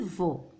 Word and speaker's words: veau: الكلمة الثانية veau. donc E A U كذلك ينطق O.